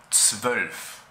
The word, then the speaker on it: zwölf: En alemán se pronuncia zwölf. Zwölf.